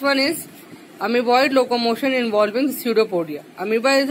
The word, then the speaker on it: pseudopodia: स्यूडोपोडिया, P silent है, और इसको फॉल्स फूट भी बोलते हैं क्योंकि ये एक यूनी सेलुलर ऑर्गेनिज्म है।